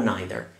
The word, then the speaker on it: neither: It has two pronunciations, neither or neither. You can choose.